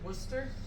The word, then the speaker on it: Worcester: their pronunciations you know like wor the Shire is how you spell it oops s h i what do you pronounce it Worcester them crazy Brits they're